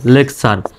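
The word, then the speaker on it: lecture: LEC lake TURE চার, lake TURE চার, লেকচার। আর যদি TURY দেখেন তাহলে চুরি উচ্চারণ করবেন, যেমন CENTURY, এটা কিন্তু সেঞ্চুরি উচ্চারণ হবে।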